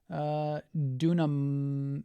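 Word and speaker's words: δύναμαι: I believe it's pronounced dunamai. I could be wrong there.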